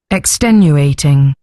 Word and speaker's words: extenuating: So her voice goes up a little bit when she gets to the 10, doesn't she? So extenuating, doesn't it? And I think you're slightly going up on the U, but it should be the E really.